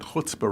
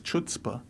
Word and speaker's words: chutzpah: or michelle bachmann because michelle bachmann doesn't pronounce the word hutzba writing she says chutzpah and david letterman can